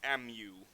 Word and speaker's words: mu: mu which looks like this weird u it's pronounced m u mu if you're using a sample you'll use